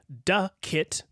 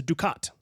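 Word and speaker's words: ducat: how to pronounce Ducket it's du a t now I thought it was what I just said which was Duit but AA you were actually much closer really it is in fact pronounced du C okay so it's a Dukat I I don't know which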